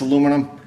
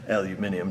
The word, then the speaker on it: aluminium: can't rub out otherwise this aluminum or aluminium to say it properly does not take vibration